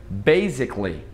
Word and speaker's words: basically: Só que esse A não é pronunciado, fica basically. Basically, basicamente.